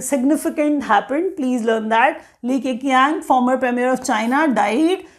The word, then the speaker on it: Li Keqiang: Li Keqiang, so Keqiang, some people pronounce it as Li Keqiang.